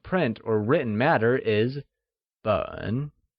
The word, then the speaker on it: 本: The measure word for volume or any bound print or written matter is 本, which is pronounced in the falling rising tone.